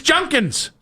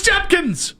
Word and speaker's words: Judkins: It's Junkins. Junkins. No, it's Judkins.